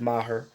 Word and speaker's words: Maher: last thing Brett Maher cuz again he's Canadian so they pronounce it Maher shout out to all